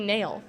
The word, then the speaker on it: Nail Yakupov: Nail Yakupov. You got the last name right, but the first name is actually Nail.